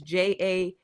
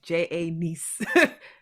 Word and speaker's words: Janiece: It's Janiece. So if you forget anything, just think how you got a nephew and you got a niece, spelled the same way. Janiece.